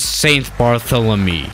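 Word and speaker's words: Saint Barthélemy: let's go to tff which is safe barthélémy yes this is how it's pronounced finally I got it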